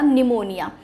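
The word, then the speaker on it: pneumonia: spelling हो शक्ति है बट उसमें पीस साइलेंट होता है ठीक है तो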